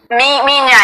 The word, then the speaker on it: minha: Minha. It's spelled M-I-N-H-A, so it's minha. Oh, minha, not Mia. Well, it's Mia, the way Spanish and Italian would say Mia, but in Portuguese it's minha.